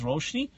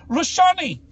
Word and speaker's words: Roshni: it was the best her name was roshni but Gordon Ramsay for the life of them could not pronounce her name so every time he was married he's like he's like roshani but she was so